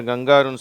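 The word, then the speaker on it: kangaroo: two through bamboo கேங்கரு இதை நிறைய பேர் கங்காருன்னு சொல்றாங்க தமிழ்ல அப்படி சொல்றாங்க அதனால ஆங்கிலத்துல கேங்கரு அப்படின்னு உச்சரிக்கப்படுகிறது ஓகேவா இங்கே சில உச்சரிப்புகளை பார்க்க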